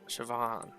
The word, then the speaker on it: Siobhan: Siobhan.